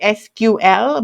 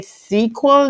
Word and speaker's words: SQL: People call it SQL, but it's really SQL is the more colloquial and common pronunciation of it.